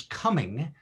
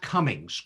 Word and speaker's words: Cumming: your last name is coming not cummings correct yes and my my scottish ancestors would would correct that there's no s on the end and our kilt our